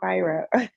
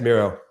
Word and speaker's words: Miro: but speaking of is are we pronouncing your name correctly though Miro or byro yeah it's Miro okay Miro yeah I